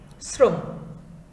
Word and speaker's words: শ্রম: আবার শ্রম, শ্রম শব্দটা এখানে সংযুক্ত র দিয়ে আছে, এর উচ্চারণটা হবে দন্ত স দিয়ে শ্রম।